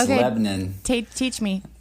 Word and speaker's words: Lebanon: She did say Lebanon a little bit wrong. Did I say it wrong? Did I? Because there's a little Tennessee run you gotta have with it. It's okay. Lebanon.